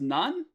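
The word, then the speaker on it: 何: Sometimes it's pronounced nani and sometimes it's pronounced none. Very annoying. There's not really a rule behind it, but let's just keep on trucking.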